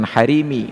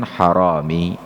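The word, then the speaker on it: harami: lagi juga sosok manusia Tapi bacanya bukan hari ini melainkan haromi itu bermakna pencuri haromi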